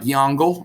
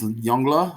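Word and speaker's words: Yongle: he's gone is the yongla emperor i know it looks like yango it's not it's yongla or at least as best as my pronunciation can manage uh the yonga emperor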